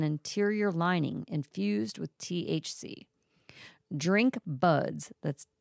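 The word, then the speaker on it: DRNQ BUDZ: Drink Buds, that's spelled DRNQ, drink, BUDZ, Buds, launched its premier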